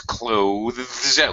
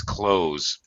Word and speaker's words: clothes: Proper pronunciation is clothes with the voiced TH sound, tongue out on the top teeth, pressing against the top teeth, the clothes. However, to make it a lot easier for all of you guys, 99% of all native English speakers reduce pronunciation, in fact, drop the TH completely, bye-bye, and simply pronounce it as close, just like close the door.